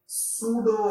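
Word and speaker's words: pseudo: पड़ेगा जिसे कहते हैं सूडो फोर्स। पी साइलेंट है इसमें, कौन सा फोर्स?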